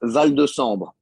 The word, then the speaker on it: Val De Sambre: How do you pronounce the name of your team? VDS means Val De Sambre.